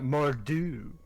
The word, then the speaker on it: Mor'du: he's taller remember um you have to say it how it's said in spanish mordu whatever no more do that's how they say it there you go see